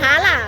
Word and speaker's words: খালা: আমাদের খালা খালা খালা খালা হ্যাঁ হ্যাঁ থালা থালা থালা এটা আমাদের খোঁয়াসাগর দিঘি আপা আপনার উচ্চারণের উচ্চারণে ভুল হচ্ছে থালা না খালা আপা আপা আপনার নাইমকে